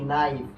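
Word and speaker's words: knife: নাইফ। এটা উচ্চারণ হবে কি?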